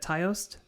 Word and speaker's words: Taoist: But theirs is the god of death is intermixed with Shinto, Buddhist, and how do you spell it? Taoist?